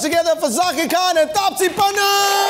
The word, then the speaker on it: Pannu: आगे पन्नू, पी A double N यू बात खत्म।